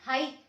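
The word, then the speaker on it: はい: हो जाती है, तो यहाँ पे आई की प्रोनाउंसिएशन क्या है, ई, और ए को आ पढ़ते हैं, तो ये हो गया हाई।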